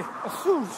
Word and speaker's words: Açores: It's funny, the English say Azores, and the Americans say Azores. The Portuguese say Açores.